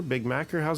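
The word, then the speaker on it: bigmacher: social media handles is it big big mocker big mac how's that pronounced there my personal is big macho b-i-g-m-a-c-h-e-r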